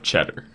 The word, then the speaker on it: Cheddar: million times I'm sorry yes cheddar cheddar yes like the cheese that's what you said